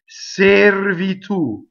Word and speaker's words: servitù: A, servitù. Notice that the accent is on the last syllable. This is not common in Italian. In Italian, the second to last syllable is usually accented.